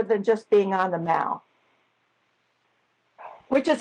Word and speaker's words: the Mall: just being on the Mall, which is how they say it. They don't say mall like we do, they say Mall.